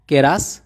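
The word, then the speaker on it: keras: শক্ত এর মালায় উচ্চারণ হবে কেরাস।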